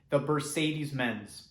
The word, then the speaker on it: the bercedes: This is the album called Mutist Beach by the artist the bercedes. Thank you so much, and please enjoy the rest of the video. Thank you. So the bercedes are a very interesting band.